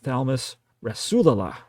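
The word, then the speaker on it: Thalmus Rasulala: And my all-time favorite name of a human being, and I learned how to pronounce it correctly, is Thalmus Rasula.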